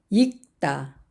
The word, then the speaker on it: 읽다: 겹받침 리을 기억을 보겠습니다 익다 익다 여기에는 뒤에 있는 기억 받침이 소리가납니다 읽다 읽다 읽고 읽고